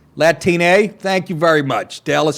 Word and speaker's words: Latine: I guess that's how you pronounce it, like latrine. Latine.